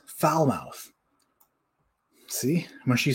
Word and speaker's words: Falmouth: the brubaker maker says there is a foul mouth kentucky pronounced falmouth why would they do